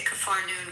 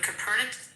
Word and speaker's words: Capernaum: We say Capharnaum, Capernaum.